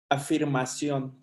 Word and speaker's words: afirmación: Don't you say affirmación? Afirmación. Afirmación. Afirmación. Okay, my accent was on the wrong thing.